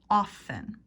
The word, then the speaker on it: often: like this and often the T is silent often often let's practice the rhythm